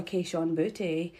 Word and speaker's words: Kayshon Boutte: But also, my boy Kayshon Boutte.